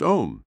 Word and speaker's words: Om: gently humming the sacred Mantra Al pronounced om about 10 times breathe